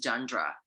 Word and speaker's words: genre: but not least May how do you pronounce gendre in English yeah it's genre what about no more